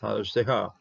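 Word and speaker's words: חסדך: Haz, even close syllable here with the Shava. This one is pronounced Hazdeha, okay? And you'll see it right away with the Dagish. Once you have a Dagish, you're going to be pronouncing your Shava.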